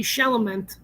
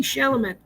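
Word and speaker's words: Chalamet: love like uh like Timothy Shel remember that sham I'm saying it wrong Timothy shalaman that dude he like did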